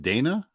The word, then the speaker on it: Dana: very cool lacrimosa of Dana yeah uh Donna it's uh it's pronounced Donna yeah 2016 oh it's